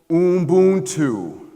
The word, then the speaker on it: Ubuntu: The word is called Ubuntu. It is spelled U-B-U-N-T-U.